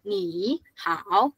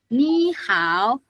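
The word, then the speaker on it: 你好: Selanjutnya emm eh how ni how wait nada pertamanya yang ini berubah jadi nada dua ya bukan jadi keseluruhan ini dibacanya bukan ni how enggak kayak gitu dibacanya naik ni how ni ni.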